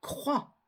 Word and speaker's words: croix: latine exemple le mot croix la croix en latin c'est crux et c'est pour ça qu'on a dû garder la consonne finale X mais on ne la prononce pas mais attention ce sont